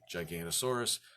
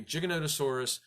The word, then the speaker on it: Giganotosaurus: referring to this animal you don't mistakenly say gigantasaurus the paleontologist would look at you pitifully and say uh-uh